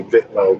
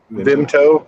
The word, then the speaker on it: Vimto: I want to say Vitmo, but I know that's not how it's pronounced. Vimto, yeah, Vimto.